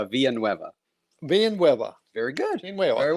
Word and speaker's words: Villanueve: And I wonder how many is going to be out there and try to pronounce that name. Is it Villain? Is it Vanilla wafer. Vanilla No, Waver? no, it's Villanueve.